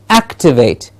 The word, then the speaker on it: activate: more a higher pitch it has to be said as activate activate you can see the